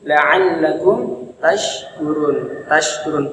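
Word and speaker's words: لعلكم تشكرون: Subhanahu wa taala, yaitu la'allakum tashkurun pakai shin. Huruf shin makhrajnya itu ada di tengah-tengah lidah, kemudian tengah-tengah lidah ini tempelkan ke tengah-tengah langit-langit bagian atas.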